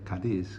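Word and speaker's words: Cádiz: west coast of Andalusia that is spelled c a d i z kadis kadi and this is a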